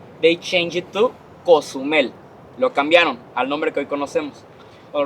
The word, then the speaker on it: Cozumel: smoke making a huge smoke wall haciendo una escalinata de humo showing everybody Cozumel was nearby.